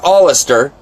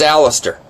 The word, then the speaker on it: Alistair: spelling my name wrong it's not all astir it's Alistair and just call me